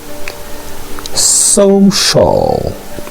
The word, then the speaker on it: social: Les prononcer comme sh. Social. Alright. Social. Donc nous pas dit so-called. Nous pas dit social. Alright. Nous dit social.